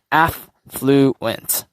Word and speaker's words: affluent: So just remember, affluent. So affluent. So these two letters, remember, you can use a dash to like split ent. So there's 3 syllables in this one word itself.